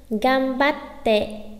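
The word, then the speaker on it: がんばって: Chữ ừn là chúng ta đứng trước chữ bờ nên sẽ đọc là gan à, hay là gam à, gam nhá. Gambatte, gambatte, gambatte, gambatte kudasai ne.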